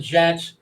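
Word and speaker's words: djent: I'm saying it's pronounced gent, but yeah, like gent metal.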